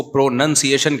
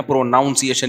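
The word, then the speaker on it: pronunciation: जैसे प्रोनाउन है प्रोनाउन है लेकिन जब इसको प्रोनसिएशन कहेंगे ना प्रोनाउंसिएशन नहीं कहते तो मैं अपनी तरफ से इ्तहाद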